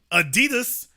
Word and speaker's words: Adidas: and remind you again Adidas the German pronunciation Adidas didn't pull his contract